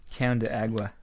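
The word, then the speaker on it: cão de água: spaghetti on top of it the agua but pronounced town de agua like KO WN can de agua which literally translates to dog of water let's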